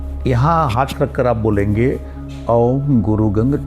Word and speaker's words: ओम: ओम जो है इसका उच्चारण 90% से ज्यादा लोग गलत करते हैं। ओम में ए, यू, एम, अ, उ और म तीन अक्षर और दो गुप्त अक्षर हैं।